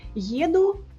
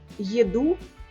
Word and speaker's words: еду: Às vezes, como no caso de maçã e massa, a sílaba tônica errada em russo sugere que é outra coisa. Еду, vou ou viajo. Еду, comida.